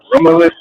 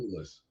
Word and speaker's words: Romulus: Oh, I you talking made about Romulus? Romulus. Yeah, I knew I was pronouncing it wrong.